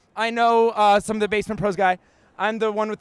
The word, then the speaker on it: Basement Prose: Basement Pros. Excellent. Basement Pros, indie ski pop. Yeah. Ski bum pop band. It's actually Basement Prose. I know some of the Basement Prose guy.